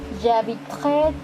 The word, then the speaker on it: habiterai: Mais attention ici, on ne prononce pas la lettre E. J'habiterai, tu habiteras, il et l'on habitera, nous habiterons, vous habiterez, ils et elles habiteront.